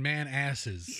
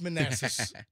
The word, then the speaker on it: Manassas: He lost his junk in man asses. It's Manassas. It's Manassas. I've been pronouncing it wrong all these years? It's not man asses.